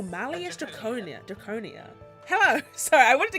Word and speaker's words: Malleus Draconia: Wait, how did you pronounce the name? Malice Draconia? Malleus? Malleus Draconis. Ooh, Malleus Draconia.